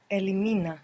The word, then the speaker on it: elimina: she he you for Elimina good and we still have the accent on the penultimate syllable Elina very good how